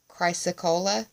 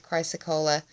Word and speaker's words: chrysocolla: From the Sage Goddess Gemstone Oracle deck, I pulled for you Chrysocolla, I believe is how it's pronounced. Chryssocolla is how it's spelled.